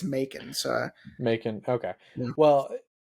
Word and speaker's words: Macon Blair: You said his name is pronounced as Macon Blair, That's how I've not heard it. Macon Blair. I've read it as Mackin Blair, but every time I hear someone say it,